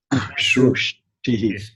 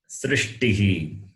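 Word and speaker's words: सृष्टिः: Shrushtihi. It's not Oh. shru, it is sr. Sr. Okay. Shrushtihi. Srishtihi.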